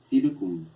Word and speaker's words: circum: Pero en latín clásico, en lengua latina, la C se pronuncia como K. Entonces, en español pasa como circum. En latín se pronuncia circum. Circum. La C suena como K en latín culto, obviamente.